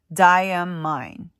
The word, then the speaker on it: Diamine: cool story where um you're supposed to pronounce it as d d ye a mine so it's D am mine you know what I